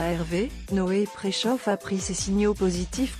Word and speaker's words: Preszow: Rendez-vous est pris le 16 décembre prochain pour découvrir Prechoff, nom amusant que se réfère à la bonne prononciation de son nom de famille, qu'il a dû souvent corriger lors de ses débuts.